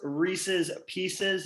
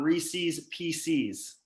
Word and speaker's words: Reese's Pieces: we've got joe no nickname boynton here it's pronounced reese's pieces not reese's pcs get it right yeah well it was a